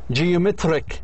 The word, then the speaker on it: geometric: geometric ريك اللي قبليه هو الستريس عليه.